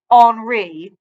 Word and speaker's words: Henri: He pronounced his name O-N-R-E-E. Henri Reverie.